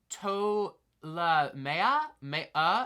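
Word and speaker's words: Ptolemaea: righty tracka seven uh another P silent I believe it's pronounced TOA May yeah yeah I think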